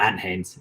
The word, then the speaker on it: Ant Haynes: is legit that is legit um am I pronouncing your name right ant yeah ant Haynes yeah an it is Anthony but yeah oh